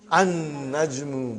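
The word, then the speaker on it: النجم: we have an najrumum so how will you pronounce brother an najmu by don you did not pronounce lam okay next one is before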